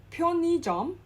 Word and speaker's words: 편의점: Now again, 편의점. Again, so the '의 in the center, in the second placing is pronounced as '이.